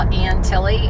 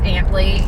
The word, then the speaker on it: Antley: road that we're on a lot of you will call Aunt Tilly and that is not how you pronounce it whenever you get here that's what people will tell you it's Antley it's actually named after the